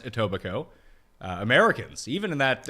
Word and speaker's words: Etobicoke: are looking for it and yes it is pronounced etobicoke uh americans even in that uh even that